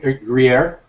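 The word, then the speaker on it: Gruyère: because I think the Greer is a little bit more subtle. You're saying Gruyere? Greer, sorry. You and your weird Canadian accent, bro.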